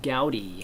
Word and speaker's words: Gowdy: Okay, Brett Gowdy has a question. Let's see what I think that's how you pronounce it, Gowdy.